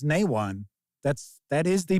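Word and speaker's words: Nehwon: did you just say nwan it is it's nwan that's that is the pronunciation so it is not near onean it's Nan C bolts is that really the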